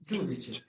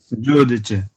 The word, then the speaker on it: giudice: জুদিছে। ওকে, জুদিছে, কি বলে? জুদিছে, Giudice.